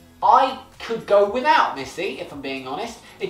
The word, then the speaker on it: Missy: is getting a kissy Missy her name literally rhymes with kissy that's the joke I'm